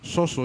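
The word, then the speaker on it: σώζω: el original griego es la palabra soso con acento en la primera o soso y z al final y Por qué es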